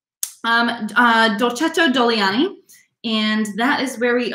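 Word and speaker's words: Dogliani: now this area called doliani now remember again the middle g is silent for this word so it's not dog gliani but doliani so do a deer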